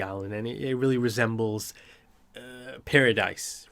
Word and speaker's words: Paradis: And I believe they pronounce it paradis. I had to go back and pick it up and listen to it a few times. It sounded like they were calling it paradis.